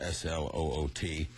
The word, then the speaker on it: Sloot: Name as Johan van der Sloot because it's spelled S-L-O-O-T, but the correct Dutch pronunciation is Sloot, as if it were S-L-O-A-T.